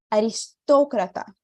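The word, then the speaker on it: aristócrata: ser em português e vai ser aqui na sílabas que eu coloquei em então em espanhol eu vou dizer aristocratar lembra que o outro fechadinho não era estoqueta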